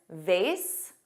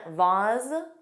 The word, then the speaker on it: vase: Both pronunciations, vase, which rhymes with face, and vase, which has an ah but a z sound, both are used in